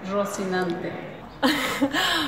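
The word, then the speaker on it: Rocinante: The correct pronunciation would be Rosinante.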